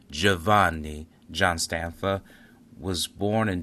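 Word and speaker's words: Giovanni: In Italian, you would pronounce this Javanni.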